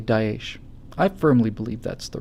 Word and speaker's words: Daesh: to say something like extremists have hijacked, it's pronounced Daesh, thanks guys, extremists have hijacked, the ideology of the German people.